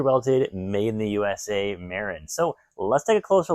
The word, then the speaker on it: Marin: I know in a couple previous videos I used to say Marlin, but it's pronounced Marin.